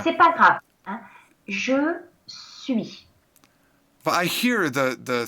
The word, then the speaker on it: suis: Je suis. Je suis. Je Alors, je suis. suis. Non, c'est un S. The S is silent.